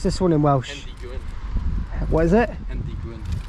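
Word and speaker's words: Hendy-gwyn: Brandon, how do you pronounce this one in Welsh? Hendy Gwyn.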